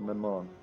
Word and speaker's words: Maman: I would imagine in French it would go like it would accent the second syllable. So like more not Mammon, but more like Maman.